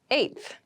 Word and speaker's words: eighth: on my 10th attempt eighth eth eighth eth refers to the number eight of something thing the pronunciation might be a little tricky so be careful with this one I live on the eighth floor I live on